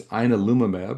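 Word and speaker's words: ianalumab: the VAWY736 and it's inolumab is how the the drug is named and pronounced.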